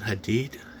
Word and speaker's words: Hadid: Gigi Hadid geeky Gigi Hadid now we're just pronounced e-i-g-i and Hadid I did h-a-d-i-d sorry man for messing up